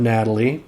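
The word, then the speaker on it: Gnately: Thief named Natalie and yes that's a hard G good Natalie even though it's g-n-a-t-e-l-y um she is kind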